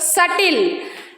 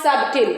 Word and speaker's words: subtle: You observe here Deb doubt subtle B comes before T there so B is silent in that kind of words com thumb lamb climb we should not say climb Thum we should not say why B is coming after M and here that b is coming before before that is only the rule If You observe the words you can understand the rule also here de doubt subtle it's not sub right now we are